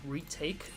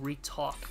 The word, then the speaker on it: Retake: I kept calling him Ret Talk because I thought that that's how his channel would spell, but apparently his channel is retake and I've been saying it wrong this whole time.